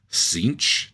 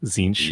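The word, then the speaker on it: Tzeentch: figure out these pronunciations cinch t z n t c h it's just a z sound zinch yeah zinch uh Lord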